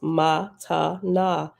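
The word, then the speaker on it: מתנה: Reference number 45 at the bottom says, the Hebrew word matana, pronounced matana, means gift and is a Nazarene sectarian term for the first form of salvation.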